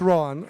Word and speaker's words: Rohan: throughout the Charlotte community, Rohan. And I'm mispronouncing his name. It's Rohan.